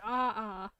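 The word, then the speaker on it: ʻaʻā: Oh, it's pronounced ah. It's an Hawaiian term.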